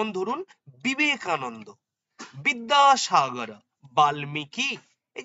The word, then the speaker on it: বিবেকানন্দ: ধরুন আমি বারবার বলেছি অন্তস্থ বয়ের ইংলিশ টার্মটা ভি যে সমস্ত নামের ভি দিয়ে অক্ষর শুরু ধরুন সেই বটা যেমন বিবেকানন্দ ভি আই ভি ই এন এ বিবেকানন্দ এন এন ডি হলো